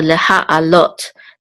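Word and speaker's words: לְהַעֲלֹת: It's on the last syllable. And this is the cholim with the tav at the end, which the cholim says o, so this is lot. So leha alot.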